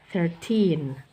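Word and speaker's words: thirteen: 30ty karena itu akan mirip dengan 13 30 thiren 4ty 14 f f si si si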